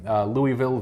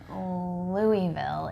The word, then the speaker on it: Louisville: soy curls occasionally we will have like the Louisville vegan jerky which is Louisville its Louisville Louisville I don't live in st.